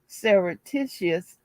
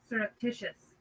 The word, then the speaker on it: surreptitious: and sareticius sir uh-uh i got to see how to pronounce this word is it sir let me hold on for a minute let me see how to pronounce this word surreptitious oh i was saying it right surreptitious what the [